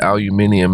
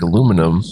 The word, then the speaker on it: aluminium: Never understood aluminium as a pronunciation because there's no I. It looks like aluminum. There's no I after the N to make it aluminium, but whatever.